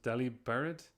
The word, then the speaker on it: Delibird: It's pronounced Delibird, like Delivered.